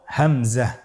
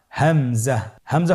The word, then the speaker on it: হামজা: পরবর্তী হরফটির নাম হলো হামজা। পরবর্তী হরফটির নাম হামজা। হামজা হরফটি উচ্চারণের ক্ষেত্রে বারিক করে উচ্চারণ করতে হবে এবং এখানে টেনে পড়া যাবে না।